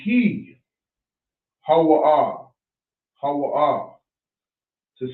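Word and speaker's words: هو: So every character is pronounced singular. Alright, so I'm going to show you. We'll come out the way. Ha-wa-ah, ha-wa-ah, ha-wa-ah, ha-wa-ah. That's how you say he.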